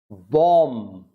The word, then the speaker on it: bomb: The silent letter. B, quite a number of words you will find with B as silent. There are more words than these. I'm giving just few of them. Bomb, B, no B.